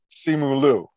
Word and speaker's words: Simu Liu: it which you see simulu is how you pronounce it copy that um what